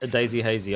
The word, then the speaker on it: Daisy Hazy: Although Daisy Hazy, I'm pretty sure is the correct pronunciation, I will always say Dazzy Hazy. I'm not sure if it's it's just because of, you know, my accent or not, but it just sounds right to me.